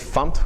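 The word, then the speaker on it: fmt: Fump.println, so fump, we pronounce it fump, which is short for format.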